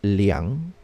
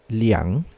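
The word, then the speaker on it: 两: which is pronounced as liang liang liang so in chinese number two has actually two kinds of pronunciation the first one is er the second was liang we usually in telling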